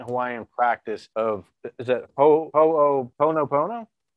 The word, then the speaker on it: Ho'oponopono: In your book, Zero Limits, you discuss this, the ancient Hawaiian practice of, is it Ho'oponopono? Yeah, Ho'oponopono. You just pronounce every syllable.